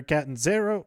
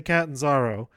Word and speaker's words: Catanzaro: in Kacy Catanzaro or Catanzaro can't get cadenza no okay most of the announcers say Catanzaro so that's how I pronounce her name but then a